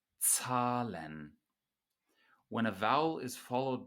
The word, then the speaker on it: Zahlen: And the first thing that we notice is that a Z in German is pronounced like a TS, not like a Z in English. So z, z, Zahlen, Zahlen.